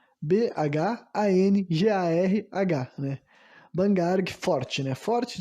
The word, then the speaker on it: Bhangarh: chama o Forte de Bangarg. Eu vou soletrar porque não sei se está correto a minha pronúncia, né? Bangarg quer dizer não, se escreve Bhangarh. Bhangarh, né?